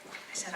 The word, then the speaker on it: Isa: Sorry, I think I said your name wrong. I said Isa. It's Isa.